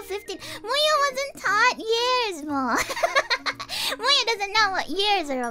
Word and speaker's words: Muu Muyu: My name is Muu Muyu.